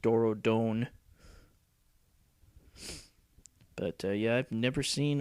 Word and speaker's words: Dorodon: is supposed to mean I think they called it Doro Dawn in uh starc but I believe it's uh UPL is a Japanese company so it probably should be pronounced Doro Don but yeah I've never